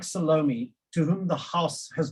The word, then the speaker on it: Salome: We're nearly 30 years into democracy, and people like Salome, that's incidentally a South African pronunciation of her name, people like her still have no presence or voice here at all.